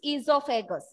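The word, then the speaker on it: oesophagus: Even it is the spelling is O, but your pronunciation is, spelling is there, but your pronunciation is esophagus.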